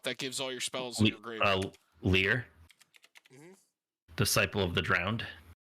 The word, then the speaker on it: Lier: gives all your spells leer disciple of the drowned how do you spell that l-i-e-r it's almost like liar almost oh that's also kind